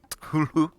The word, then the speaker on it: Cthulhu: Who, so Cthulhu.